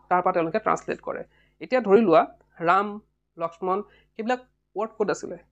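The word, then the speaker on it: राम: কি বলি কয় রাম সংস্কৃত কি বলি কব রাম রামা এটা এই রাম ওয়ার্ড টু লিখুটে আমি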